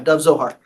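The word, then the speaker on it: Dov Zohar: So I pronounced his name correctly? Yeah, Dove Zohar.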